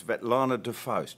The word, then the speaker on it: Vetlana De Faust: the kahala classic um my pronunciation might be i think it's vet lana de foste does that that's probably how i pronounce it right okay well